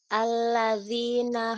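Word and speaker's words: الذي: miskin fawailul lil musollin alladzina hum huruf dalalnya tipis Bu alladzi alladzi dza dzi bukan alladzi bukan alladzi alladzi dzi dzi pangkal lidah jangan naik pangkal lidahnya turun dzi dzi alladzi heehina hum yurunal maun.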